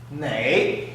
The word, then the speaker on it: 馁: 另外我们看一下它的读音，馁。这个馁的读音就取自这个尾，意思也是从这个尾来的。